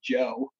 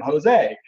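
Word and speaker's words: José: go somewhere that spanish-speaking don't just say your name as you say it like if somebody comes over here from Mexico and your name's Jose you don't call them Joe we call you know we called him Jose because that's their name so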